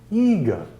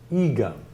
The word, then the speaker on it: igen: Except that I do know from Hungarian friends that it is very common that words have stress on the first syllable. So the way you say yes in Hungarian is igen, igen.